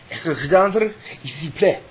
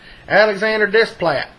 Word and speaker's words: Alexandre Desplat: It's probably pronounced Alexandre Desplat. But it looks like if you look from Banks County where I am, Alexander Desplat.